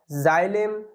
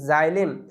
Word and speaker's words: xylem: জাইলেম, XYLEM, জাইলেম।